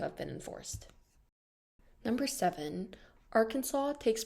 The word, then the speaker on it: Arkansas: the state's name shall be spelled Arkansas but pronounced Arkansas this shows just how often the name is